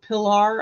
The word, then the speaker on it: Piller: is Officer Ryan Piller P pillar I believe is how his name is pronounced of the Gilbert Police